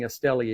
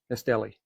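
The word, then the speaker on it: Estelí: Cuban cigars yesterday and they were not pronouncing Estelli exactly the way I do. Uh but anyway, you know, you know where I'm talking about. Estelli.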